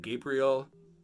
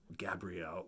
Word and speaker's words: Gabrielle: in the tate mansion gabriel gabrielle why do i keep saying gabriel because it's it's it's spelt like gabriel like a man's name gabrielle is miserable awaiting